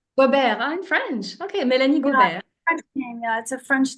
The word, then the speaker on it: Gobert: it's actually it's pronounced goar goar I'm French okay Mel French name yeah it's a French name yes so I've know